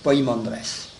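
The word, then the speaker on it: Poimandres: po e mais enfin c'est plus facile de le prononcer avec poi pi M a n D r e s poandress parce que je crois que poen ça s'écrit avec un e en grec pour ça que ceux qui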